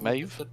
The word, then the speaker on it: Maeve: old lady named Mavi, I keep forgetting how that's pronounced, Is said it that she Maeve? would. Maeve? Is it Maeve? That's how it's spelled. Okay, I'll just say Maeve.